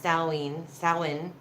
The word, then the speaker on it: Samhain: night of the year Samhain pronounced a lean soin they believed that there